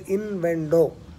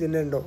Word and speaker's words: innuendo: Now, normally we pronounce it as invendo, but it is innuendo, right?